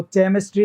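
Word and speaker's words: chemistry: नहीं दोस्तों, केमिस्ट्री नहीं होता। क्या होता है? ये केमिस्ट्री होता है, ठीक है ना। ये CH च का साउंड नहीं देगा, हमेशा CH च का साउंड देता है, कई बार वो कै का भी साउंड देता है।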